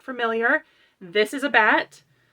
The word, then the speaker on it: batt: If you're not familiar, this is a bat. It's spelled B-A-T-T, so it's bat but with 2 T's.